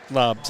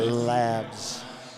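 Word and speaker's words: Laabs: with a foul or second lobs i should say labs two a's is a long a i know i played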